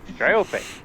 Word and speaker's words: Dryope: Dryopia. Dryope? How do you say her name? Dryop? Dry up? Try it. Dryope. Dryope. Dryope. I like that.